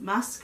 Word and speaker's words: MASC: to the return of mask with relieved it's pronounced mask Korea I am super